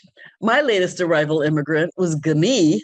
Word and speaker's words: Guni: My latest arrival immigrant was Guni, looks like Gunild, but it's pronounced Guni, Jakobsdatter Einong, pictured with my grandmother in this four-generation photo.